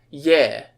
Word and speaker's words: Е: And if you see an E written in Russian, instead of it being pronounced E, it's yeah.